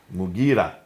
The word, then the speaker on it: Mughira: Sorry for the pronunciation. Qais. In Syria, Al-Muqarid ibn Shuba. Mughira ibn Shuba.